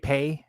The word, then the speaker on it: Paye: I do agree with Robert Taylor, but I believe it's Paye is how you say his last name.